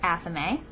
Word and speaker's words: athame: I do not have an athame, and I pronounce it athame.